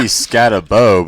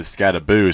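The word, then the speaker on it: Skattebo: his name honestly it's it should be scabo but everyone in their M pronounces it scaboo so I guess we just have to accept the fact that you say scaboo even though that's not how it's spelled I guess yeah that's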